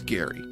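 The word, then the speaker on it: Gari: Uh, G A R I, pronounced Gary.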